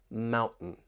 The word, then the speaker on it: mountain: And with the American accent, when you have the T followed by an N, that T may get changed to a glottle T.